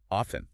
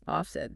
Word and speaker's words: often: are you thinking of often often do you say often with the T or do you go for of you know I've heard